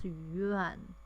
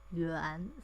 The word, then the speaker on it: yuan: okay for this cash our monetary unit is young but in Chinese the right pronunciation is yuan second top okay so actually I